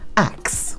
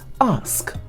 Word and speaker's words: ask: It is pronounced ask. It's not axing.